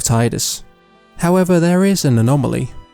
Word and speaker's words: Tidus: So it is Tidus because a voice actor in Japan decided to pronounce it Tidus instead of Tidus.